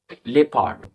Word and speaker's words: leopard: তারপরে LEOPARD, লেপার্ড।